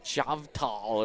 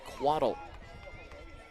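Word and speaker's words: Chvatal: help you out here it's quatl it's spelled CH v a tal so chavatal is what it looks like or something like along those lines but it is pronounced waddle delivery in a big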